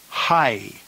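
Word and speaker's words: αἱ: letter of the diphthong the plural nominative is pronounced hoi hoi the feminine plural nominative is high high and the neuter plural nominative is ha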